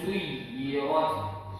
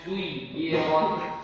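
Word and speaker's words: سُيِّرَتْ: Waw tasydid sama dengan ya tasydid. Kalau dia bertasydid maka dia harus ditekan sedikit. Suyi. Ya. Wa idzal jibalu suyirat. سيرت وإذا الجبال سيرت. Pak ya, coba baca suyirat.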